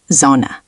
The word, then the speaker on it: Sonne: Sonne with a Z sound, Sonne, and Zeit is tight.